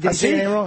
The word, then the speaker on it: Asif: Asif Kapadia. Asif Kapadia. I'm going to go with that. Is that it? No, it's Asif. How did he say it? Asif?